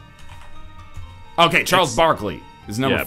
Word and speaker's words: Barkley: Is it like spelled like Berkeley but with an A? Okay, Charles Barkley is number 4.